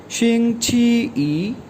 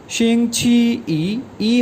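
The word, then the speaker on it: 星期一: डे कहलाता है, तो चाइनीज़ में इसको प्रोनाउंस किया जाता है शिंग छी ई, शिंग छी ई हमने पढ़ा था 1 को कहते हैं यानी फर्स्ट डे ऑफ वीक, शिंग छी ई।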